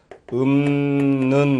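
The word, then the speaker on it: 읊는: 읍는 요것도 읍는 같은 것도 읍는 이렇게 발음이 나는 것이 아니죠. 그러니까 거기 발음이 리을 피읍에 있는 것이 읍는 요것인데 는 이렇게 발음이 납니다.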